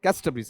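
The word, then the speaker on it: Casterbridge: शुद्ध उच्चारण क्या है, कैस्टरब्रीज। हालांकि इसे कास्ट कह दो तो कोई दिक्कत नहीं, क्योंकि नाउन कैसा बताओ आपका, प्रॉपर नाउन है।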